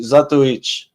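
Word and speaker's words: Zatoichi: If you say it in real Japanese, it would be Zatuich. But it's Zatoi is the way you would pronounce it.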